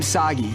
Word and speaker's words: Sagi: But I'm Sagi. Rhymes with Saki.